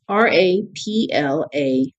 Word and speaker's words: raplapla: This is spelled a little bit differently. It's R-A-P-L-A-P-L-A, raplapla, but without the T.